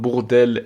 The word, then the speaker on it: Bourdelle: Well, I didn't want to say bordel, which means brothel. So you went hard on the R, on the rolling of the R. Bourdelle.